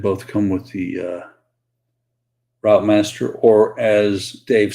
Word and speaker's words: Routemaster: come with the uh route master or as Dave says I I keeping I keep americanizing it the correct pronunciation based on the way Dave says it is the root master and so that is